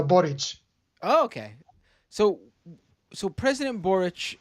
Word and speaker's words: Boric: kind of like um it's kind of like Maury Povich it's uh borage okay so so president